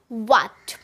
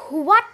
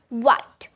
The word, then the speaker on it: what: সো আমরা যদি এটাকে সঠিক করে উচ্চারণ করতে চাই তাহলে আমরা উ এর মতো একটা সাউন্ড করব। সো এখন থেকে আমরা হোয়াট না বলে বলবো হোয়াট, হোয়াট, উ এর মতো একটা সাউন্ড করব হোয়াট।